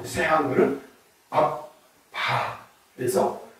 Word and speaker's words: 압바: 그런데이 새한글 성경은 악바 이렇게 예 연결해서 읽으면 아빠지만 그 본래의 발음이 아라고 그러거든요.